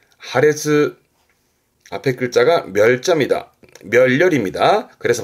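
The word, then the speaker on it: 破裂: 발음은 하레츠, 하레츠.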